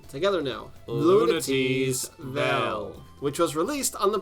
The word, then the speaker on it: Lunatea's Vel: The first of the bunch was Klonoa 2, Lunatea's Vel. I think it's pronounced as it's spelt. Together now. Lunatea's Vel.